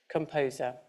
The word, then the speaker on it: CMPSR: Another great bit of tech is the composer, which is actually spelt with the letters CMPSR, composer.